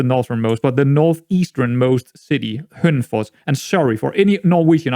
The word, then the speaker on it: Hønefoss: more so try and just say it how you would say it in Danish, because I think it would sound a lot better just saying it in native Danish than I would try to pronounce it in some kind of Norwegian way.